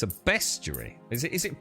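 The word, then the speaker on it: bestiary: even though they shouldn't CU it's not a beast JY is it it's a best JY is it is it pronounced beasty uh these B animals love to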